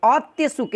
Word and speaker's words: औत्सुक्य: ठीक है, औत्सुक्य, यहाँ पे आधा तक का उच्चारण होगा दोस्तों, ध्यान दीजिएगा।